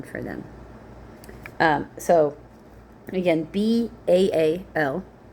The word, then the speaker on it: Baal: Um so again B A L which often is pronounced Bale but that's actually pronounced Bal and it really just means Lord.